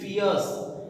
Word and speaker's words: fierce: आर के बाद में यदि अपने को कॉन्सोनेंट नहीं मिल रहा है तो लगभग उसका जो प्रोनाउंसिएशन है वो साइलेंट रहता है, आर साइलेंट रहता है, इसलिए अपन इसको बोलेंगे फियर्स, FIERC, फियर्स।